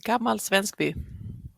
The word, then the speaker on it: Gammalsvenskby: So just warning you that the pronunciation of Gammalsvenskby, how do you pronounce that? Yeah, that was quite good. Gammalsvenskby.